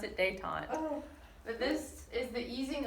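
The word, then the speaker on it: détente: that's one of the it's Dave Tom you pronounce it day time but this is the easing of relations so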